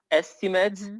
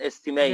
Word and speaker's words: estimate: the two different yeah there's a difference between pronunciation of the of estimate as a noun and as a verb estimate and estimate very good which one